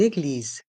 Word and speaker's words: église: château une cathédrale une église une cathédrale une église à se rappel que le s est entre les deux voyelles I et E ici donc le S se prononce ze une église une cathédrale